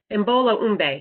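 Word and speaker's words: Imbolo: meters of um am i saying this right embolo right thank you i didn't want to say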